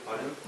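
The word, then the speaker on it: 바둑: Baduk?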